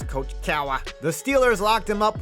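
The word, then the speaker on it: Cowher: me at the time and that's how you pronounce coach cowa the steelers locked him up with the three-year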